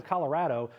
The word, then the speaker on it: Colorado: Brian, I do want to focus on, if you can, Colorado, because or Colorado, as they properly pronounce it, because I thought